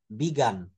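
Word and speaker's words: begun: হইছে the game has বিগান the game has বিগান খেলাটা শুরু হই আছে তখন কিন্তু বিগিনও হবে না বিগানও হবে না বি গান হবে এজন্য বানানটাও কিন্তু এখানে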